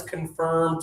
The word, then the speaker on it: confirm: Let's confirm tomorrow. Okay. Yeah. So this one is with your lips forward and open.